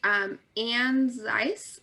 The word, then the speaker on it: Anne Zeiss: That was exactly how it's pronounced. Oh, wonderful. You must know a little German. I must. Yeah, the E's are totally silent.